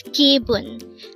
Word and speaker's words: 기분: 360 gun again it's kibun this pronounced as a two syllable word the first syllable is